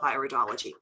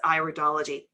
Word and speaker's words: iridology: The first thing is it's iridology, not iridology. Got it? It's one of those pronunciation things, right? It's the iris of the eye, so it's iridology. If it was iridology, we'd be studying ears.